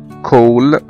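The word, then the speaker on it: call: زي كلمة كول كول يعني مكالمة تليفونية كول C A L L، نطقنا هنا الـ A كأنه حرف O.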